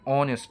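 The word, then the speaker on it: honest: मगर आप यहां पर ए नहीं लगा सकते क्योंकि यहां पर एच साइलेंट है और यहां पर ओ की आवाज निकल आ रही है। ओ साउंड प्रोड्यूस कर रहा है एन ऑनेस्ट पर्सन।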